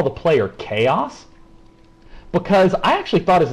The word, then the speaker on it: kOs: we are actually going to call the player chaos because I actually thought his name was Co because it's Kos and I do the Hooked